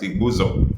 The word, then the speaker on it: Igbuzo: Okay, but the real, according to the pronunciation, Igbo that is Igbuzo, that is Igbusor.